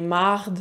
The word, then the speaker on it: merde: C'est pour ça que « merde », ça devient « marde » souvent quand on est fâché, que « tabernacle » devient « tabarnak ».